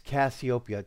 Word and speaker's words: Cassiopeia: hey it's still not you're not pronouncing it right say it like this copia do you remember the